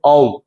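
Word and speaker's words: ॐ: Pronunciation actually AUM, অম।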